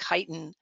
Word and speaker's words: chitin: that's being developed it's of i think it's pronounced chitin uh it's uh shrimp shells uh anthropods um